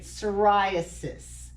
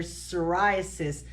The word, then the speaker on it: psoriasis: So if you say, the P is silent, so if you say psoriasis, coarse silvery scales, there's a lot of S's in there. So whenever I hear psoriasis, I always think in